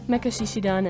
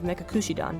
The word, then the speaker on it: Mekakushidan: Mekashishidan and Mekamekadan. These are both mispronunciations of Mekakushidan by Momo.